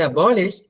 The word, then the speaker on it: abolish: When you say abolish, second syllable has the stress.